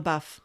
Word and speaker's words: LaBeouf: Oh no, Shia LaBeouf, like in the buff.